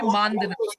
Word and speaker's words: Mandhana: Sorry, I pronounced the name wrong. It will be Mandana.